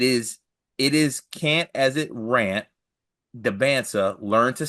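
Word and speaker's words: Dybantsa: It is can't as it rant Debansa.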